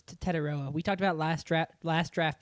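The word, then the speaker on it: Tetairoa: He doesn't like being called Tet. Okay. So we had to memorize the Tetaroa McMillan pronunciation.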